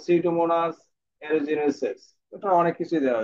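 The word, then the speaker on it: Pseudomonas: এখন এর সাথে আছে সিউডোমোনাস। তাহলে আমরা সিউডোমোনাসের নাম, এটা কিন্তু একটা বিষয় যে পিটা সবসময় কি হবে?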